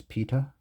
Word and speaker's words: pitta: Here we have Steers Pitta. I've heard it be pronounced both pa and pitta, but for this video we'll call it pitha, but I'm no expert on birds, so feel free to correct me.